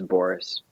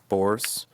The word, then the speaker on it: Borress: So the stress is on bore, so it's Borress. Borress. Like Borress. Borress. Yeah. AC Yeah, Borress. pretend it's spelled like Boris, and then I don't think you'll pronounce it wrong.